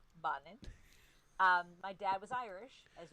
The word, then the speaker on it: Bonnin: If we were to say it correctly, it's Patricia Dora Bonnin.